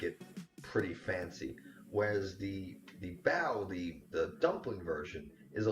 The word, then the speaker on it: bao: So we're gonna make what's called bao, bao or Baozi or Baozi.